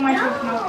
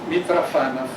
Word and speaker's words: Mitrofanoff: In Russian, we pronounce it Mitrofanoff. In French, we used to say Mitrofanoff. But I now resigned to accept the English version of Mitrofanoff. Even on the site, it's advised to pronounce Mitrofanoff.